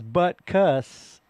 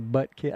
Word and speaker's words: Butkus: But it is buttcuss cuz it's a U. It's not actually an I, right? Like a buttkiss.